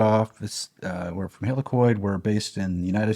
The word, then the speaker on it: Helicoid: can't pronounce it because I'm American but it's it's spelled h e l i c o i d helicoid helicoid yeah all right so the presentation started off this uh we're from helicoid we based in the United States and the